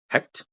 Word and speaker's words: Hecht: some highlights so hecked hecked I'm saying it right this time right hecked I I'm I'm not saying C HEC right yeah he like Hector but hect you got it right all